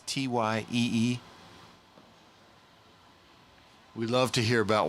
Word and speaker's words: Tyee: Watch party at the shop at Ty E Archery and Outdoors. Did I pronounce that right? It's Tyee.